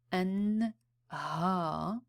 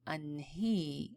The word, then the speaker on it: أنهى: So when you pronounce أنهى, like to end or to complete, you would say أنهى as if you're saying alif instead of saying أنهي as if you're saying ya.